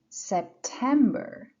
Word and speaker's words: September: stress is on Li which is the second syllable the other one is September September then we have October October you see